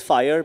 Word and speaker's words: FIRE: So we at FIRE, so it's pronounced as FIRE, but it stands for the Fifth Industrial Revolution.